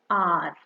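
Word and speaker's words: hour: in R the H the sound of H is silent okay so we'll avoid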